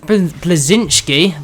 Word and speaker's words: Bleszinski: but that'd be really cool um anyway Cliff blazinski that's how you say it actually admitted he